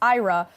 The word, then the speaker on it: IHRA: This year, Sweden holds the rotating presidency of the International Holocaust Remembrance Alliance, or IHRA, pronounced IRA, under the banner of